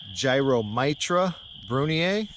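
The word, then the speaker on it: Gyromitra brunnea: aren't morels these are the proper pronunciation is gyromitra brunier I'm never going to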